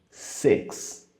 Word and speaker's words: six: Six. Ele não vai ser o mesmo som de I que a gente usa em outras palavras, como read. Nesse caso, ele é um meio termo entre o som do I, como se fosse o I com acento agudo, e o som do E com acento agudo.